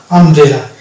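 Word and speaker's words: umbrella: এর র ফালা ইকার আর ল এ আকার আমব্রেলা এই যে এখানে ম উচ্চ আছে আবার বউ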